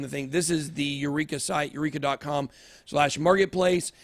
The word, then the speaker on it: UREEQA: It's UREEQA, Eureka. So that's actually how you say it.